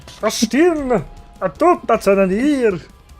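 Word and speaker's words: Carstein: And the thing is, I couldn't even keep watching it because he kept mispronouncing Karstein. He said, Vlad von Kosten.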